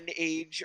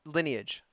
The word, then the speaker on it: Lineage: Lion Age or I always say the name wrong. It Uh is Lineage.